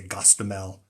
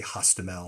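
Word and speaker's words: Hostomel: uh like uh uh russia you would say gostamel uh in ukraine you say hostimel so the the h gets a g sound uh in russian but she knows those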